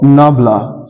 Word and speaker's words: nabla: we use the symbol this symbol is pronounced as D or nabla sometimes the gradient of